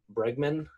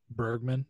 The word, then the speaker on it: Bergman: uh humphrey bogart and ingmar bregman i think that's how you pronounce her last name bergman yeah is it bergman okay um some would